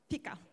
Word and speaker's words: fika: Ja minu kõige viimane leid Fika, how do you pronounce it? Fika.